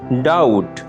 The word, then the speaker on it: doubt: Doubt. ডাউট, সন্দেহ, দ্বিধাগ্রস্ত হওয়া। ডাউট, সন্দেহ, দ্বিধাগ্রস্ত হওয়া। এখানে মার্ক করা বি লেটারটি হচ্ছে একটি অনুচ্চারিত লেটার।